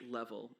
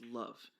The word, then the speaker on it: LOVE: Um, actually, it's not pronounced level. It's pronounced love.